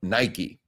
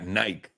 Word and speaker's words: Nike: all call it Nik we don't pronounce the E I was in montere